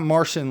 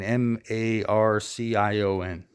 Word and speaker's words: Marcion: Marcion, right? Is it Marcion? I think it was Marcion. Not Martian like a fucking guy from the planet Mars. I mean Marcion.